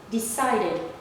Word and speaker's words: decided: And this one, if it ends in da before the ed, the base form, da here, da and da, all you have to do is to also pronounce it as id.